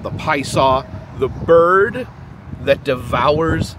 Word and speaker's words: Piasa: of the P saw and yes it is pronounced P saw um I I was first time I was here I tried calling it The pza Bird and I was corrected by locals or